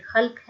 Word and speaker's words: خلق: بھی درست کیجیے گا، یہ خلق نہیں ہے یہ خلق ہے۔ خلق کا مطلب ہوتا